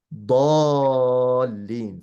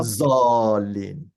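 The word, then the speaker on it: دال: The sides of the tongue, press it to the ceiling of your mouth, and then say da. Mhm. Da. So it's dalin, for example. Mm. Not How zalin. That's not how you say it.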